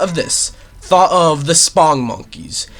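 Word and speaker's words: Spongmonkeys: Thought of the Spong Monkeys. And no, it's not supposed to be Sponge Monkeys. It's not spelt that way. It's spelt Spong Monkeys.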